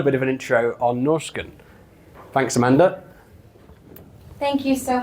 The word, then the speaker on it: Norrsken: So for those of you who are new to Norrsken, that's how we pronounce it in Swedish, but it's okay if you say Norrsken.